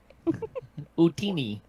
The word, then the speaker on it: Utini: Utini. Utini, okay. Like what the Jawas say.